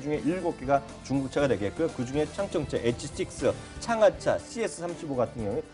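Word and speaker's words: 长城: 여기서 창청이란 거는 뭐냐면 만리장성의 장성을 이제 중국 발음으로 창청이라고 있는 거를 꼭 기억하셔야 될 것 같아요.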